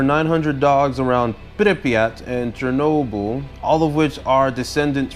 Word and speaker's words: Chernobyl: watching my show yeh it's pronounced Chernobyl I think it's because I was getting it confused with Ginobili Manu Ginobili I think probably the scene